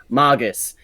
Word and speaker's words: Magus: And the Fate series is really where the word is more used, and it is pronounced as Magus in that series. Then there was also another anime that also uses it, so I don't know why people seem to have a problem pronouncing my name properly.